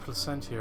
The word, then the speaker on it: Placentia: I'm glad I pronounced Placentia right in the last video.